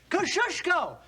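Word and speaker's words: Kosciuszko: of General Gates chief engineer say it and spell it kushko k o s c i u s z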